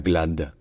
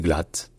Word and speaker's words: Glad: Et en fait, en allemand, le D à la fin d'une particule se prononce te. Donc ce n'est pas glad, c'est glatt.